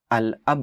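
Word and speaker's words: الأب: पे लगाया गया है, तो आप लाम को क्लियरली प्रोनाउंस करेंगे। अल अब कहेंगे, अल बाब कहेंगे, अल जद कहेंगे।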